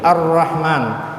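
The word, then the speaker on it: الرحمن: yang diikuti ro Nah jadi cara membaca huruf lam itu dimasukkan ke huruf g jadi Arrahman Nah di sini kan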